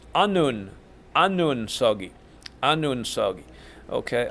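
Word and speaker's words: 서기: is Stan's Stan's we the word for Stan's is soggy and I usually say like soggy cereal so it's the same pronunciation different language soggy means Stan's walking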